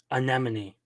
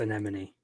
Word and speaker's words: Anemone: How do you say her name? Anemone. Anemone. The sea. Anemone. Uh priest girl. Is that really how you say your name? Anemone. Yes, it's Anemone.